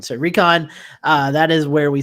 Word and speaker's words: Rincon: I apologize Rincon is um the way you pronounce that town instead of rycline so Recon uh that is where we saw the confirmed